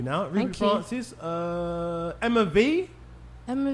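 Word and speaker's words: Emma Vie: So Emma V is spelled Emma Vi, like V-I-E. It's all one word. Emma Vi, but it's Emma V.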